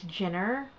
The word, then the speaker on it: Jenner: of you guys is not sure how to pronounce it it's Jenner Jenner 81 which I'm not